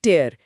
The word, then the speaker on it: tear: बिल्कुल, जब ये क्रिया होता है तो इसका उच्चारण होता है टेयर, और मतलब होता है फाड़ना। टेयर, हाँ। जैसे डोंट टेयर द पेपर, कागज मत फाड़ो। लेकिन जब यही स्पेलिंग संज्ञा के रूप में इस्तेमाल होती है तो उच्चारण बदल जाता है। टीयर, हाँ टीयर, और मतलब होता है आंसू।